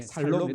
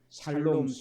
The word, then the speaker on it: 샬롬: 예, 살롬 해도 됩니다. 죽을 놈이 아니고 뭐라고요? 살롬이다 그 말입니다. 그러니까 혀가 잘 돌아가서 샬롬 해도 되고 안 돌아가서 그냥 대충 어떻게 해요? 살롬 해도 된다는 거.